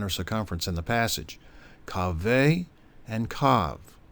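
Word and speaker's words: קָוֶה: But, unlike the first account, a second Hebrew word pronounced kaveh, Strong's number 6961, also meaning line or circumference,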